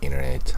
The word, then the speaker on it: internet: doesn't say internet internet it's kind of like this t is not pronounced that's how a lot